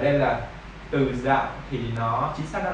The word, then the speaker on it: dạo: nó là dấu nặng, nhưng mà tâm đang hát thành dấu huyền là từ dào. Từ dào, tại vì tiếng Việt mình có một số từ nếu mà mình không có phát âm đúng dấu thì nó bị sai nghĩa. Nên là từ bao nhiêu thì em cứ nhấn, cứ giống như là chữ dạo, em chỉ cần dạo chạm nhẹ xuống dấu nặng để em nghe nha.